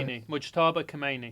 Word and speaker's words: Mojtaba: Mojtaba. How do you say it? Khomeini. Mujtaba Khomeini. Mojtaba.